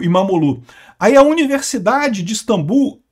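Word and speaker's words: İmamoğlu: A aliás, o regime do Erdogan prendeu até o prefeito de Istambul, o Imomoglu. Falei sobre isso, aliás, não se pronuncia o G, né? e Imamolu, eh eh que é o principal opositor do país.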